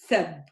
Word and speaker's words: سب: So the difference is in the a, the fatha. Both have a fatha. Here I say the fatha as a. Here I say the fatha as a. صب سب.